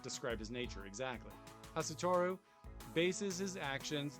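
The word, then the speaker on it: Hastur: The name may be pronounced as Hasutoru, one of the gods far beyond the understanding of mankind who presides over the wind.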